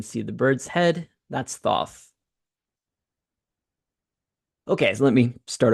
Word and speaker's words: Thoth: It looks like Thoth, which is how you say it.